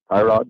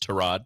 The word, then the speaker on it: Tyrod: quarterback for VG Teck hrod Taylor hrod Taylor we actually pronounced trod trod trod Taylor trod Taylor TT